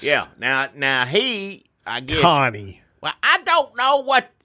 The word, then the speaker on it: Kanye: Connie. Well, I don't know what anybody's name is, so I can't pronounce it right. You got to tell me. It's Kanye, right?